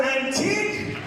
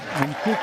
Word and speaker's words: Antik: His name also rhymes with unique. Let's hear it from Mr. Antik! Antik.